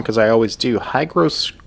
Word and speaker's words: hygroscopic: Hygroscopic. Hydroscopic.